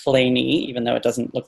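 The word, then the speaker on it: Kleene: And Claney, Stephen Cole Claney, which is pronounced Claney, even though it doesn't look like it should be. Looks like it should be Claney.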